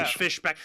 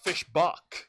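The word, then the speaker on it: Fischbach: I thought it's pronounced Mark Fishbach. You know, like Buck.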